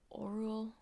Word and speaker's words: Orual: Oral. O like an orange, not like own. Ru as like rue, or ol like bull.